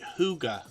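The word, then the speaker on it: Hygge: channel in the chat it's actually spelled h y g g e but we pronounce it Huga so Huga homestead's actually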